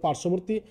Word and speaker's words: পার্শ্ববর্তী: যদি কোন ব ফলা যুক্ত হয় তাহলে এটার উচ্চারণ হয় না যেমন পার্শ্ববর্তী তোমরা দেখো এখানে রেফ এর সাথে তালবস যুক্ত আছে এর সাথে আবার যদি বফলা যুক্ত হয় তাহলে বফলার উচ্চারণ হবে না যেমন পার্শ্ববর্তী একইভাবে উজ্জ্বল শব্দটিও একই ভাবে হবে কিন্তু এখানে